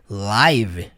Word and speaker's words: live: conhecer lá do termo live, de ao vivo, não é? Só que aqui ele é um verbo e aqui é o verbo viver. E sim, você vai pronunciar com o som do i, live.